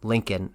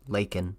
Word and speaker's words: Laken: killed in Athens wrong he called her Lincoln her name is Laken or I should say